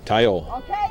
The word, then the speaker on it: Tayo: Tayo.